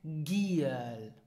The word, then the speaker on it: Giel: So whenever a word starts with the letter G or whenever a syllable is stressed, then you pronounce it G as in the English word tiger.